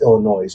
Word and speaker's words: Illinois: you guys are from Illinois?" He goes, No. You got to pronounce it right. It's Illinois." I said, "No, it's silent."